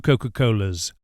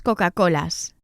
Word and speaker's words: Coca-Colas: But please take care to always pronounce the plural Spanish S as S and not Z with the voice. As we do in English after vowels, we say Coca-Colas, Coca-Colas, and coffees. In Spanish, it's Coca-Colas, cafés.